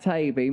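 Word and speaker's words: Taibbi: without perhaps uttering the names that rhyme with baby and maybe yes it's Matt tabey Matt thanks for joining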